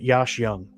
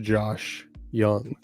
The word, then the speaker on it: Josh Jung: you want it's pronounced Josh Young like a mix between Josh Hamilton and Michael Young that that's what I